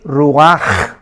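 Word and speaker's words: רוח: y exhaló Isaac el ruach apúntalo se tradujo espíritu la la palabra hebrea para espíritu es ru pero la ch en hebreo se pronuncia como J es ruaj ru como j y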